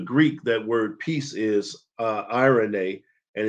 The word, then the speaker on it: eirene: We also covered that in the Greek, that word peace is eirene, and it's spelled E-I-R-E-N-E.